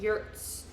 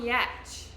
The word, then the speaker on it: Giertz: It starts with it's like Giertz or something, but it's not pronounced like that because it's Swedish. It's like Yurtz, Yetch, Simone Yetch. I think that's how you pronounce her last name, because she has the